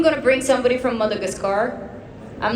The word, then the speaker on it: Madagascar: I'll bring somebody from Mother's Car, I think. Sorry. I think I'm going to bring somebody from Madagascar.